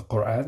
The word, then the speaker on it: Quran: And we know the Western, when Western people speak about the Quran, they say Quran because they find it hard to say, to pronounce the q.